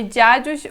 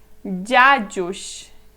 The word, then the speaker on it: dziadziuś: E você consegue ouvir esta letrinha A na pronúncia. Se você prestar muita atenção, você vai ouvir. Olha, esta palavra aqui, eu vou pronunciar primeiro, é dziadziuś, dziadziuś, dziadziuś.